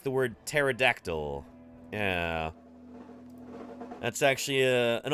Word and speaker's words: pterodactyl: the front just like just like the word pterodactyl yeah that's actually uh an old joke yeah